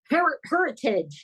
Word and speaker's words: Heritage: Heritage, yes. Okay, I was hoping that's how it's pronounced. Yeah, that the emphasis is on the her.